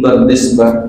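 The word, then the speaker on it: Bardizbah: Waqad rawahu Imam al-Muhaddisin Abu Abdillah Muhammad bin Ismail bin Ibrahim bin Mughirah bin Bardisbah, itu bacanya tuh bin Bardisbah, dari namanya kita tahu berarti bukan orang Arab.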